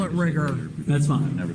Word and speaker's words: rigor: Called the Riger.